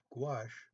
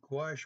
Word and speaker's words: gouache: a little explanation of gouache it's actually sounds like g-w-a-s-h that's how you pronounce it and gouache watercolor is not transparent